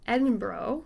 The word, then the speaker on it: Edinburgh: the edinburgh coffins and i already mispronounced that we're going to go with edinbro because we are doing our research there we go that's right we